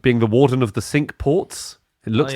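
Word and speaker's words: Cinque Ports: And it's spelled like the French five, but it is I swear to God they pronounce it warden of the sink ports.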